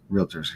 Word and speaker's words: Realtors: National Association of Realtors Realtors he says right that's good everybody throws an A in there really really really